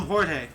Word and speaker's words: Jorge: somebody if if they're if somebody's named george in mexico they call him jorge you know because it's true it's based off of how that language pronounces that letter um it's spelled with a j yeah like henry or